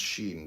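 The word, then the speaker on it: שין: Shin pronounced shen transcribed as sh.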